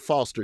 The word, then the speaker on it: Foster: they would spell out Foster. You see it's Foster. We know it's Foster. But the announcer would always go F-O-S-T-E-R-A. Foster. I'm like, did you have to make R 2 syllables?